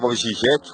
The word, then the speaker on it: Žižek: Vamos lembrar aí uma publicação dos anos 00 de Slavoj Žižek, como seria a pronúncia em esloveno, que é a pátria dele.